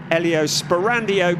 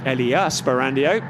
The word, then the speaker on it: Elia Sperandio: 6th place ahead of the Elio Sperandio car, Elia Sperandio, to get the pronunciation right, in the number 35 car.